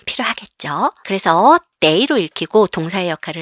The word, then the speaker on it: 得: 그래서 이 day 뒤에 이렇게 시간사가 온다 그러면 얘는 day라고 읽고 동사구나, 걸린다, 소요되다 이렇게 해석을 하시면 됩니다.